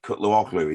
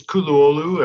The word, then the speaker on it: Kutluoglu: I always struggle with Cutlery is that is that okay it's kululu and I probably just said it wrong as well so the g is silent and uh where's this